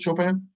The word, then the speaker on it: Chopin: was somebody it was it was chopin is how you say it chopin that was my jam